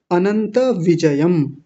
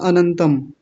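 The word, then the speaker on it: अनंतविजयम्: देख लीजिए जल्दी से अनंत विजयम बहुत आसान है कोई कठिन नहीं है बस किसी ने कक्षा में बोला था अनंतम बस वो नहीं करना क्योंकि क्योंकि ऊपर बिंदी नहीं है तो नहीं बोलेंगे।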